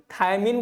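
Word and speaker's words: thiamine: पता होना चाहिए भाई थियामिन होता है थियामिन आप थाया मिन पढ़ो मत इसको इसको थियामिन पढ़ो थियामिन पढ़ो गलत पढ़ो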